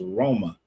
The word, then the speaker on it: Roma: But the city of Roma has always been pronounced over there as Roma. Just like we say Naples, you go over there is Napoli. So, I don't know how